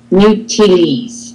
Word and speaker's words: n'utilise: So, n'utilise. Perfect. And don't forget about that z. Z, yes, because it's between two vowels.